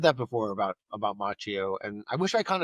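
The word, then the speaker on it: Macchio: A young Ralph Macho. Uhhuh. Yeah. Yeah, I've gotten that before. Did I say it wrong? Machio. Machio. Machio.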